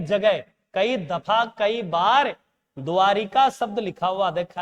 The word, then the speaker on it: द्वारका: श्री कृष्ण जी की नगरी द्वारिका। नहीं बेटा अशुद्ध उच्चारण शुद्ध द्वारका है द्वारिका नहीं है पकड़िएगा इका है बेटा स्त्रीलिंग नहीं है यहां नगरी है लेकिन द्वारका शब्द ही है और शब्द द्वारका जोड़